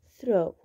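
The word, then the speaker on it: through: ننتقل هنا رقم 4، هاي كمان فيها جي اتش تكتب ولا تلفظ، اللي هي ثرو، ثرو من خلال، هاي جي والاتش اجت اخر اشي تكتب ولا تلفظ.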